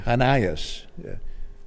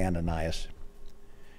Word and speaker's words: Ananias: 10 in damascus there was a disciple named hanayas that's the way it would be pronounced we say ananias in damascus there was a disciple named ananias